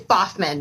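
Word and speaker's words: Baughman: How do you pronounce her new last name? Now it's Boffman now.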